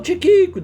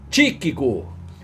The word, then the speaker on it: Tíquico: ou pouquinho, só um tiquico de nada. Não era Tiquico, era Tíquico. Olha aí onde está o acento agudo, na primeira sílaba. Então é Tíquico.